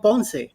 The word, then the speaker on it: Ponce: But Ponce de Leon is just in the right way to say it. Ponce. Just an accent on the E at the end.